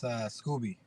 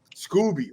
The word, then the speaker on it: Scoby: It's Scoby. Scoby.